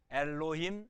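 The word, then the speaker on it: אלוהים: 몇 음절 단어일까요? 엘로힘 3음절이 아니고요. 쉐바는 음절 구성을 못합니다. 모음이 아니니까 발음만 하라고 편하게 붙여준 거예요. 그래서 로힘 2음절이에요. 2음절. 엘로힘 발음은 엘로힘이라. 그렇다면 왜 이렇게 복잡하게 만들었을까?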